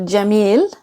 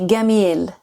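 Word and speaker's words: جميل: So instead of jamil, they'd say gamil.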